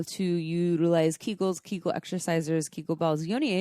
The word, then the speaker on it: Kegels: So this episode is on Kegels, also known as Kegels. I don't know, tomato, but it's spelled Kegels.